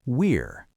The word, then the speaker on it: we're: We reduce that to we're, and in fast connected speech, it often just sounds like the word were.